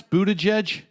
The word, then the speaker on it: Buttigieg: How do you pronounce Buttigieg?